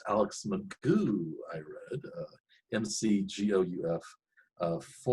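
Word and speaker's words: McGough: it looks like it's uh looks like alex mcguff but it's pronounced alex magoo i read uh mcgeouf uh for uh former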